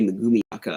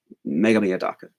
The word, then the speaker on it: Megumi Odaka: I think it's Mega, sounds like Megame, but it's spelled Megumi Odaka, but I think they pronounce it Megame Odaka. Whenever I hear them say it, like in an interview, they go real fast. Megame Odaka.